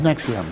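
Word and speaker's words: NXIVM: and of course there's nexium Mexicans don't with an expert's pronounced like the heart you know acid reflux medication this is an amazing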